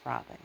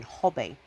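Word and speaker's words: Robyn: a y um and in brazil they don't really pronounce the name um they had trouble with it so they would use her middle name because they would pronounce robin hobby and she'd say like robin hood and they're like oh hobbe and she just thought it sounded so strange compared to her actual name when my mom was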